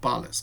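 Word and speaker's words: pollex: thump you know that the thumb is pollux we call it pallas so when you when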